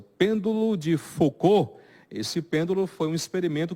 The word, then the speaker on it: Foucault: Que o físico ele era francês, então eu não sei francês, mas acredito que a pronúncia deve ser Foucault mesmo, né?